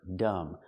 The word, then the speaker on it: dumb: Remember dumb, the B is silent. Whenever you see MB at the end of a word, the B is silent. Dumb.